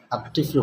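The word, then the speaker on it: الطفل: ঠিক তেমনিভাবে তিফলুন একটি শব্দ আছে, তিফলুন এটার শুরুতে আলিফ লাম যদি যুক্ত হয় তাহলে এই তিফলুনকে আত-তিফলু পড়তে হবে, মানে আলিফ লাম উচ্চারণে আসবে না, আত-তিফলু পড়তে হবে।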